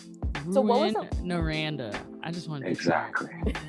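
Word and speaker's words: Rouyn-Noranda: tough one so it's it's called no and if you would want to say it I guess with the English pronunciation it would be like ruin Nanda or something like that Ru naranda I just want to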